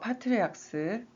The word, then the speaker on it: patriarch: patriarch, ch가 크 발음 나는 게 있고 취 발음 나는 게 있어요. 그래서 뭐 모나크 또 크라이스트 이런 거는 크 발음 나고 또 church 이런 거는 취 발음 나죠. 크 발음 나는 patriarch.